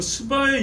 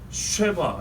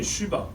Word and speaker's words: 스바: 먼저 중요한 것은 스바의 여왕이라고 그랬습니다. 스바, 거기서 많이 들어봤죠. 정확한 발음은요, 쉐바 이래야 됩니다. 쉐바 혹은 쉬바 그렇습니다. 스가 아닙니다.